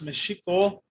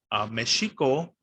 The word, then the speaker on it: Mexico: Well, this X actually in the Spanish language transformed from the SH sound to now it's, of course, the J sound. And so that's why, even though it's spelled with the X, because the Spanish language changed, it's no longer pronounced Mexico, and now it's pronounced Mexico.